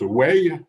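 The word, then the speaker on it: 危: chinois ou deux idéogrammes 1 qui se prononce way qui veut dire le danger un deuxième qui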